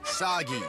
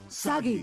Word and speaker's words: Sagi: The shave burden boy of action who will save us all is named Sagi. Rhymes with Saki. Saki! Which I could use a lot of right now. Sagi.